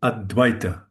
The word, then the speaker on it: Advaita: We see here the double vowel that makes, and therefore we have to stress this part, like Advaita, Advaita.